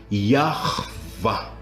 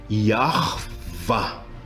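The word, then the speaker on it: יהוה: E como nós vimos há pouco, a pronúncia dele é Yahvah. Tem um som gutural do fundo da garganta.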